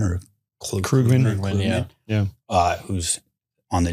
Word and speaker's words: Krugman: You saw guys like I always say his name wrong, Paul Klugman or Krugman. Krugman, yeah, yeah.